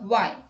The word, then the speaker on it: why: H is not pronounced when it comes after W. Some speakers whisper the H before the W. Let's look at the examples. What, when, where, whether, why.